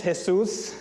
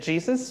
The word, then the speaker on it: Jesús: My name is Jesús. I know some people may pronounce it Jesus, but that's why we have that little accent mark in the U.